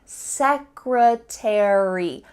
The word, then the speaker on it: secretary: Well, in this case, a r y at the end of words is going to indicate that in American English, we're going to pronounce the full word library. Secretary, military.